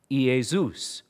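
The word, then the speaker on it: Iēsous: heard this maybe not joshua can be pronounced in the hebrew yahushua or yeshua said in the greek e zeus in the english jesus our lord jesus christ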